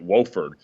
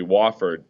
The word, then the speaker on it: Wofford: never heard of it I actually pronounced it Wilford but it was actually Wofford and I came down